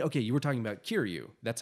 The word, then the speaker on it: Kiryu: And I mean, okay, you were talking about Kiryu.